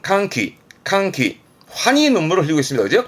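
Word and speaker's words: 歓喜: 발음은 칸키 환희 눈물을 흘리고 있습니다.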